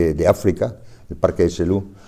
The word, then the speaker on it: Selous: Selous, se pronuncia, es un apellido francés, es el apellido de